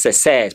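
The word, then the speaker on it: seize: That is says, Pluto.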